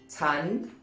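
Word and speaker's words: ฉัน: different tone for example in spoken thai tan rising tone is normally pronounced with a high tone chan chan ah four the same pronoun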